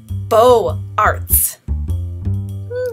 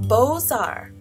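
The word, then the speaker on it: Beaux-Arts: movement that originated from France how do you pronounce it let's see B Ox art yeah no h books Arts H closer how about bow Arts get in there getting there do you give up it's pronounced boar now that we know how to say it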